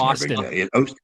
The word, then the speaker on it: Austin: I always wonder, what's the appropriate pronunciation? Austin. Like Stone Cold Steve Austin.